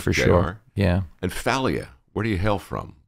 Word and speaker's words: Failla: And Failla, where do you hail from? What's the etymology? I'd technically be Sicilian. Hmm. And you pronounce it the way every anchor on Fox News pronounces it. Yeah. It's Failla.